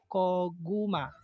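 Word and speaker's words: 고구마: First syllable is ko. Second syllable is gu. Third syllable is ma. Koguma. Koguma.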